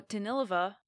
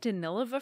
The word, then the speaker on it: Danilova: and her own work alexandra danilova or danilova i've also heard it pronounced i guess i'm going to say it danilova from now on because i heard someone who knows things say it that way alexandra danilova danced with